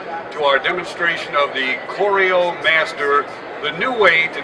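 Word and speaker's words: Crio: a little bit about our name Coro we spell it c r i o it's the same as Coro as in choreography to set up a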